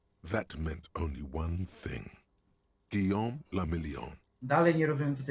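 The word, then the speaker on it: Guillaume le Million: Guillaume la Million. Dalej nie rozumiem, co to jest If it Guillaume. doesn't rhyme, you're not pronouncing it right.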